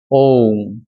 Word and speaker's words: ওম: এই ওঙ্কার উচ্চারণের যখন উচ্চারণটা লম্বা করে করছি অ উ আর ম ওম, তখনও কিন্তু গায়ের লোমকূপগুলো খাড়া হচ্ছে।